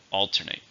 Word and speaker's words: alternate: verb how many syllables are an alternate 3 stress in the first alternate her mood often alternates